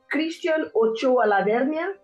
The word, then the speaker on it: Christian Ochoa Lavernia: Is it Christian Ochoa Lavernia?